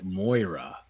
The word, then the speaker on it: Moira: there's a gun to your head right now pronounce her name correctly go there's a gun to your head Moira you got it good you did it yeah